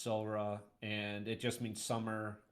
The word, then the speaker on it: Samhradh: Um the first book, uh it looks like it's pronounced Samra, but it's SRA and it just means summer.